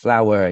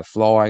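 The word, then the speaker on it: flour: bạn nhớ lưu ý cái từ bột mình đọc được flower nha nghe cũng giống như là bông hoa vậy đó Chứ không có đọc là Floyd các bạn nha ok hết siêu kilôgame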